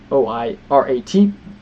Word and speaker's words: Oirat: Nonetheless, I believe pronunciation is Oirat, Mongol origin.